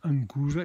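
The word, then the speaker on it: Anchusa: Ancusa, qua noi diciamo ancusa perché c'è il CH che si pronuncia in modo regolarmente all'inglese, CH si pronuncia C.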